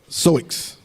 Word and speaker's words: Sioux: Soix. I know that OUX usually is silent. That X is silent, like soul or.